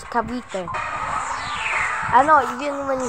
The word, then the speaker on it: Cavite: It's not cavity, it's Cavite.